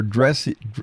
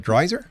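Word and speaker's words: Dreiser: His father was a writer uh and protege of Theodore Dress, how do you say that? Dryer.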